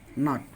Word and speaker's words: knot: जैसे night, need, knee, nil, नो, knife, नॉट। एन के पहले अगर के आ जाए तो वहाँ पे के का उच्चारण नहीं होगा।